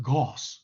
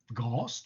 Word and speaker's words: Gauss: stubbornly anglicize everything uh gauss will have to be pronounced gauze and that's really ghost that's very gory right